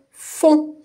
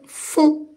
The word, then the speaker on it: fond: fermée que le on Si je mets une consonne avec le son on, je vais lire la syllabe fond. F par exemple, je vais lire fond.